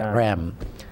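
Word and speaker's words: Reims: it's uh spelled re but it's the French pronounce it REM and uh it's it's abandoned it's it's like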